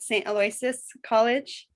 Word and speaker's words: St. Aloysius College: a lecturer at, am I saying it right, St. Aloysius College?